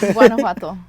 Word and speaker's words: Guanajuato: My dad's from Guanajuato. Nice. That's more south. Try to pronounce that, Max. Say it again. Guanajuato.